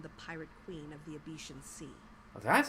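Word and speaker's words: Abecean: connections to become the pirate queen of the Abetian Sea. Oh, that's how you say it, Abetian.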